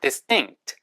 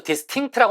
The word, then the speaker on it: distinct: 그 다음에는 뚜렷한, distinct. 이것도 distinct라고 하지 마시고 S 다음에 T 발음은 강하게. 그래서 distinct, distinct.